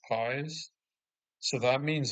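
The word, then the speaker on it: παῖς: So apparently the original text used the word in Greek, I believe it's pronounced pies.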